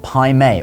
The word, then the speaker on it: Pai Mei: China so this may be a little different to what you've heard from other sources but why the name Pim or B if you use the correct pronunciation well like we said